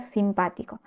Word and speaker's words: simpático: nos lleva la H veamos la palabra simpático s pa ti co la última sílaba es co la anteúltima es ti la antepenúltima o lo que en italiano llamamos la terz última es pa simpático es decir en español la llamaríamos palabra esdrújula sí la diferencia Recuerden